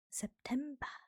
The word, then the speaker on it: September: And September is also spelled the exact same way. It is also just pronounced a little differently. So, September in German is September.